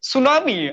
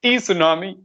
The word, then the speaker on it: tsunami: we, like, if I would say tsunami, I think it was very confusing. I used to say T tsunami because if I would